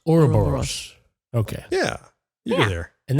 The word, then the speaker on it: Ouroboros: Think of like Aurora in your mouth. Try to say Aurora. Aurora. It's Ouroboros. Ouroboros.